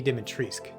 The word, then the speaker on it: Dimitrescu: their minds over lady dimitrisk yes that is the actual pronunciation the u at the end is silent apparently numerous weapons and items